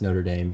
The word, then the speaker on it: Notre Dame: question so we have the University of it's pronounced Notre Dame here and their mascots the Fighting Irish sure